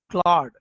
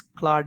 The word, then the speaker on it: Claude: Claude. Some people pronounce it as Claude A.